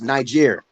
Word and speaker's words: Niger: that also consisted of Niger - you know Niger is a country yeah tonight is actually pronounced night year yeah exactly stay they